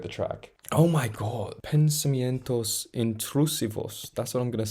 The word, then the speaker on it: pensamientos intrusivos: harmonies closing out the track oh my God pensamientos intrusivos that's what I'm going to say that's I'm going to say how it pronounce how you pronounce it before I was